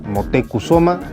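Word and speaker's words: Motecuhzoma: meses toma prisionero a Moctezuma el rey que en verdad se llamaba motekusoma pero a cortés de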